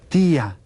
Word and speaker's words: tía: Did you say tía? Te y con acento a.